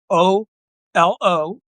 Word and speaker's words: AOLO: It's it's a AO L O. AOLO is how I pronounce it.